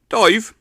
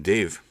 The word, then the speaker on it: Dave: the call call me dive hey Dave are you there dive and rather than saying Dave he pronounced an a like an eye so a dive like